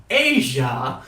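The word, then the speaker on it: Aja: Asia, pronounced like Asia, is the sixth studio album by the American jazz rock band Steely Dan.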